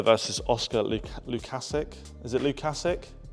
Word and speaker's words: Lukasiak: Is it Lukasic? Lukasiak.